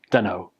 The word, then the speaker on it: dunno: And then don in don't becomes done. So put it together, dunno. Dunno.